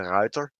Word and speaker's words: Ruyter: that time the tier 4 cruiser is the reuter which is just the last name of michiel